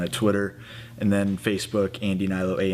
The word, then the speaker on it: Andy Hnilo: Twitter and then Facebook Andy Nylo A N D Y H N I L O H is silent.